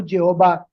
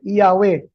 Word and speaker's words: Yahweh: Kinikilala po nila na ang tamang pronunciation ng YH WH ay hindi po Jehova kundi Yahwe.